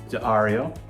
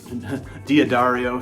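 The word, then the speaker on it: D'Addario: So, the uh strings that I'm going to be using today are from Diario Diodario if you wish to pronounce it correctly and they're going to be the um Chromes XL's regular light gauge as you can see.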